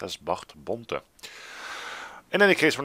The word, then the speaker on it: Bart Bonte: close by, and his name should actually be pronounced as Bart Bonte.